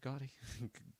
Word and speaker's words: Gotti: Is that how you say it, Gotti?